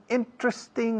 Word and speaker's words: interesting: Interesting también son 3 sílabas en vez de 4. No interesting, aunque se diga por ahí. Hay gente que dice interesting, pero la mayoría decimos interesting. Los británicos también.